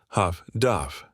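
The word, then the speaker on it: HF/DF: The British had developed highfrequency direction finding equipment, abbreviated HFDF and pronounced Huff Duff.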